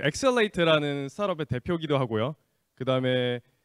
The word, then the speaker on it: XL8: 제가 설명을 다시 드리면 저 회사 이름이 엑셀레이트고요. 그 뜻이 어떻게 되냐면 X를 보통 이제 크로스라고 읽기도 하는데 트랜스라고 읽기도 해요. 그래서 트랜스라고 읽으시면 트랜슬레이트가 됩니다.